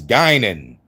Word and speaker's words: Guinan: It's Gynan. And you got to say it like Bard.